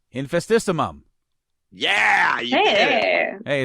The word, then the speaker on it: Infestissumam: Infestissumam. Infestissumam.